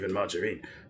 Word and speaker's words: margarine: was insist that it's pronounced with a hard G. Is it? It used to be. Because it's made with margaric acid originally. In fact, what we have now is bread. It's not even margarine.